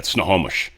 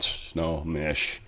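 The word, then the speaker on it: Snohomish: Sort of more in the Seattle area, but um yeah, snowomish, not snowish.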